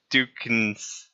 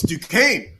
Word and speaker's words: Duquesne: So wait, what is the Dukens? I can't even pronounce that. Oh, it's Duquesne, Yeah.